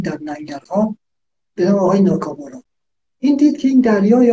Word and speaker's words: ناکامورا: در ننگرهار، اسمش ناکابارا بود، افغانی ها چون تلفظ اسمش اینجوری بود بهش میگفتن کاکابارا، آره به عنوان عمومراد کاکامراد بشه، اسمش ناکامورا.